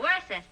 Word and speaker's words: Worcester: Yeah, the Earl of Worcester.